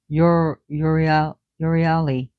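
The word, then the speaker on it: Euryale: Her sisters that were added by Hesiod, was, I'm going to pronounce as best as I can the way the Greeks would have pronounced it, Uriali, wandering one, and Zeno, mighty one.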